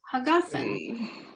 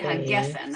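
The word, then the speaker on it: הגפן: And then line 9, pre, and then pre hagafen. It's really hagefen. I mispronounced it.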